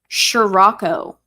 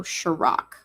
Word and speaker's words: scirocco: Is it Sirach? Sirico? Let me get a pronunciation here. Scirocco. So Chirac. Interesting.